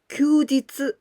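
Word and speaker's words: 休日: Together with this kanji hi, but here we pronounce this kanji kyu. Kyu, and this one jitsu. Kyujitsu.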